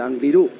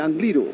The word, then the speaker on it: Angliru: durísima extensión que es el angliru el angliru perdón que ya nos han dicho que no lleva acento en la final a cinco y medio